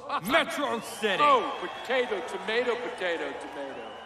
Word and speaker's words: Metro City: This is a day you and Metrosity shall not soon forget. It's pronounced Metro City.